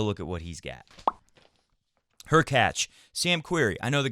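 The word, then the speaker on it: Khachanov: I get that too my point is her catch rhymes with latch followed by Sam query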